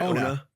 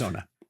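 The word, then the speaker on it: Onah: Am I pronouncing his last name right? Ona. Okay, cool. Julius Ona.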